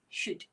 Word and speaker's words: should: Don't look at the spelling. The pronunciation should be should. And the sounds are sh, u, d. Now ask yourself, can you hear the sound u in those words? The short u sound?